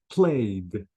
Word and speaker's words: played: Notice, guys, the ED here, I have to say missed without E sound, played without E sound, but wanted, I pronounced the E sound.